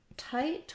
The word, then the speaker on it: tight: tight and weight so for tight we have the i ght just like in words right and night sometimes people rewrite these um like this to show again that we have that i saying the saying its name um for the symbols you'll see this as the i diphthong and just a t so the gh are silent in this word uh i do have